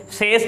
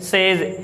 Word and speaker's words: says: Says नहीं होता, ये says होता है। ये says, S-A-Y-S स्पेलिंग S से लास्ट में, पर इसकी प्रोनाउंसिएशन ज़ से की जाती है, says।